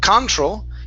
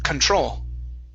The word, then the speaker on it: control: So the stress is at the end of this word. Right here, instead of control, it's control. Control.